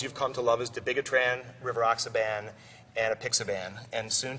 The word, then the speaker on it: dabigatran: The correct pronunciation is dabigatran.